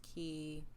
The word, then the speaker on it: Quay: silver key silver key i want to say koi for some reason it does yes it's yes quay it looks like silver quake way is pronounced key yeah but yeah i gotcha all right so